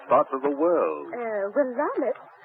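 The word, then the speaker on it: Willamette: of the garden spots of the world uh wamit how do you spell it w i l l a m a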